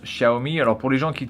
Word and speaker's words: Xiaomi: demi un ace alors ça se prononce chahoumi alors pour les gens